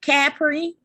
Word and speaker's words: Capri: believe it or not my name is phonetically spelled but people still mispronounce it capri caffrey really yeah capri capri capri cadbury are they looking for the h after the a huh they must be looking